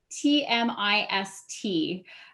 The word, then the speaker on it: TMIST: screening trial known as t-m-i-s-t uh can you share with us what you hope to learn from that study so the easiest way to pronounce that is tmist and it's a great